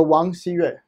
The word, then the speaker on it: Wang Xiyue: So Wang Xiyue.